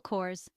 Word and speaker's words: Kors: Hill Michael Kors Mel Kors the Michael is straightforward and Kors rhymes with doors ver w ver Wang